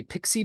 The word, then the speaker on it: PXE: also you can do something called a pixie boot it's spelled pxe and that's when you